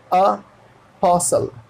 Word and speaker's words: apostle: लेकिन अगर उसे सिर्फ अ कहना है अ, तो वो डायरेक्टली यही लिखाएगा अपोस्टल, अपोस्टल।